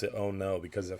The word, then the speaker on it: ono: The Spanish name of that fish is Ono. O-N-O. I think it's O-N-O. And they pronounce it Oh No because of how fast that fish is.